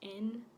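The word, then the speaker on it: 円: It's pronounced N in Japanese, and it's just the currency in Japan.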